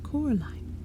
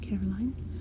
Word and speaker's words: Coraline: They kept saying Coraline, not Caroline. Not Caroline at all.